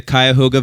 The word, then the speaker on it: Cuyahoga: I'm like, yeah, we're going to Cuyahoga Falls. Cuyahoga. And it's like, what? It's like, it becomes like a one syllable.